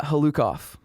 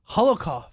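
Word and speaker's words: Hlookoff: Yeah, Halukov. Holokov. It's Russian. He said Halukov, and you immediately said it wrong.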